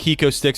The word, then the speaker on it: HecoStix: Real quick, we want to thank HecoStix for sponsoring the show. It is spelled HECOSTIX.